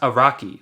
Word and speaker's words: Araki: It's pronounced Araki, like Hakari.